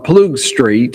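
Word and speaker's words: Ploegsteert: But this happened in a place called Plug Street. It's how the English pronunciation of it.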